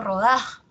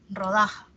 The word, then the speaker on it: rodaja: Que como ustedes han visto, yo le he pronunciado rodaja, así, ¿no? La mayor fuerza de voz está en da, rodaja.